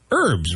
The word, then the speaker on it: herb: herbal yeah I said you pronounced the H I say it's a if it's a gentleman's name then it's herb yeah but there's no h sound in the spice the seasoning right exactly what